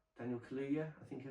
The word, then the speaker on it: Kaluuya: Kaluuya, Daniel Kaluuya, I think I pronounce it.